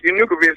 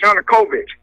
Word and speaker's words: Yanukovych: short your new convinced is not pronounced you nucleus is Yanukovych and ii think you've